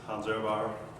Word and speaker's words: Hans Ehrbar: This is Hanzer pronounced correctly.